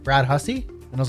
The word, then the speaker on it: Hussey: Actually, so it is Hussey, but my family from the east coast of Canada, so they're from Newfoundland with Irish heritage. They don't pronounce H's, and those S's are usually pronounced as Z's, or for the American listeners, Z's. So. It would be.